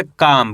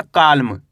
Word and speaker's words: calm: CALM, इसे पढ़ेंगे काम। क्या पढ़ेंगे? काम। यहाँ पे भी एल साइलेंट है, कैसे पढ़ेंगे? काम। ऐसे नहीं पढ़ना, काल्म।